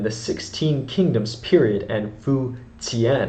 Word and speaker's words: Fu Jian: 16 kingdoms period and fuen it's pronounced but in Latin characters that's Fu Gan that's f u j i a n and my apologies for